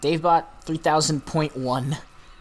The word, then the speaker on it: DaveBot 3000.1: DaveBot 3000.1. Greetings! I'm the new and improved DaveBot 3000.1. The point one is silent, so it's DaveBot 3000.